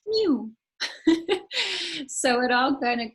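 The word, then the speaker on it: mjw: thing and um and the egyptian word for cat is just mw which is pronounced mew so it all kind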